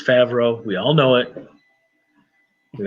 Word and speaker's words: Favreau: You even got to say his name wrong the way that Doomcock does? Come on. It's Favreau.